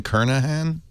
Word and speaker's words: Kernighan: Really pronounced Kernighan? Kernahan? Wow. I've been saying it wrong my whole life.